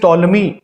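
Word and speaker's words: Ptolemy: of Roman school Claudius टॉलमी the great oestrone मर of Roman school Claudius टॉलमी पी टी ओ एल ई एम वाई इसमें P silent हो गया Claudius टोलमी started the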